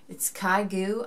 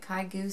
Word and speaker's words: ChiaoGoo: It's ChiaoGoo. I think that's how you say it. ChiaoGoo, C-H. I'll spell it later.